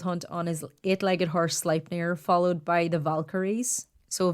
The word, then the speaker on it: Sleipnir: I was like, I bet you I'm pronouncing that wrong. And you happened to be playing World of Warcraft with a Danish guy and asked him how to spelled it out and asked him how to pronounce it. And he was like, Sleipnir? He's like, why are you asking about that?